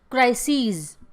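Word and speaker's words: crises: क्राइसिस का क्राइसीज, ठीक है, बोलने में देखिए प्रोनाउंसिएशन इसकी, क्राइसिस, क्राइसीज, ठीक है।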